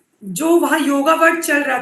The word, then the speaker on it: योग: And wellness मत लिखिएगा, योग एंड वेलनेस लिखिएगा, क्योंकि योग देख के मुझसे 50 लोग पूछेंगे जरूर, मैम आपने गलत स्पेलिंग लिखी है। मैं उन 50 लोगों को करेक्ट कर पाऊंगी कि भाई ये योगा वर्ड है ही नहीं, ये योग वर्ड है।